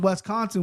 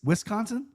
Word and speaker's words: Wisconsin: Bro, it's it's an I, not an E. Wiscon. Wisconsin.